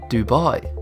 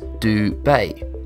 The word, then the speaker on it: Dubai: In the English context, the AI in Dubet is pronounced like I, while in Arabic, it's more like a like in bay. Therefore, the right pronunciation for dubet is dub bay.